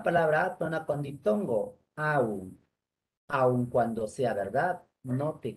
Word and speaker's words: aun: De manera que si yo digo, aun cuando sea verdad, no te creerán, habré cometido un error prosódico, un barbarismo, porque en ese caso la palabra debe pronunciarse como diptongo, aun.